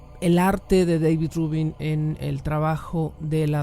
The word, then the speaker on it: Rubín: Siempre lo pronuncio, trabaja en Estados Unidos, siempre lo pronuncio como si fuera gringo, ¿no? De hecho es David Rubin, el artista David Rubin, así tal cual.